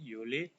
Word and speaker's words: Juli: Ini sama cara tulisnya, hanya bacanya pakai y, Juni, Juli.